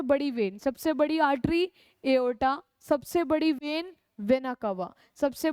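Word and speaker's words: aorta: इसको प्रोनाउंस करेंगे एओर्टा।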